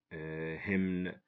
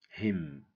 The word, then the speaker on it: hymn: If we read these words, someone who doesn't know the silent letters is gonna say, or she's gonna say, hour, dipped, but get, sin, sign, recept, fasten, somi, folk, isel, klemb, hymn, handkerchief. This is wrong, okay? This is wrong. If we know the silent letters, we're gonna say our, debt, budget, sign, receipt, fasten, sum, folk, aisle, climb, him, handkerchief.